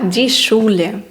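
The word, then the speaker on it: Schule: далі наступне в нас сцх сцх разом читається як ш наприклад шлісн це зачиняти Та дішуле це школа вершина абос нова нашої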